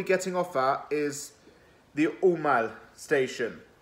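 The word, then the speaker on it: Aumale: The station West Ham fans will be getting off at is the Umal station. It's spelled A-U-M-A-L-E.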